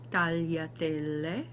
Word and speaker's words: tagliatelle: I find it just easier to pronounce because you say tall, tal, and then yatelle. So if you can finish the l and then do the ya, and you just smush them together.